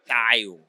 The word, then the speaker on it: Tayo: Mapedi ke tayo. Okay. Ka sekgowa ba re ke Theo.